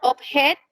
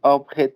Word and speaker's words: object: Creo que decías object, pero es object.